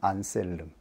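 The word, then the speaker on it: Anselm: 중세교회에 교회를 세우는데 지대한 영향을 끼친 분입니다 영어식 발음으로는 안셀름 그리고 아벨라르라고 쉽게 발음할 수 있습니다 오늘은 안셀름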